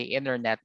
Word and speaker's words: internet: And of course for American accent, normally yung mga letter T, like for example when you say internet, you'd probably hear them say internet instead, so the silent T in the middle.